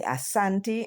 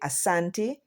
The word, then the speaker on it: Asante: And here are a list of them: the Adanse, Agona, Akwapen, Akwamu, Akwayen, the Anye, the Asante, and it's no H in it. It's actually Asante, the Buali, they are in the Ivory Coast, Bono.